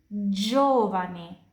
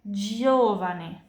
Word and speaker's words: giovane: G diikuti dari I, giovane, giovane. Tapi kalau G diikuti dari A, O, U, dan H, pronunciasinya kayak G di bahasa Indonesia.